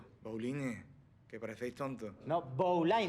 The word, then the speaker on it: Bowline: But its impossible It's a winslow knot Winsor That’s it, Winston No mate, its Bowline, don't act dumb No, Bowline, it's pronounced Bowline, like “bowling” in English for fuck sake, you're